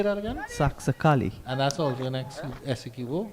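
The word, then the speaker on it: Saxacalli: Saxakali.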